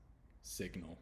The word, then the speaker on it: signal: full word signal so signal does have the hard G it is pronounced uh but you'll notice it also pronounces the I different so instead of sign with the I sound it's signal with a different eye sound and the hard G the next letter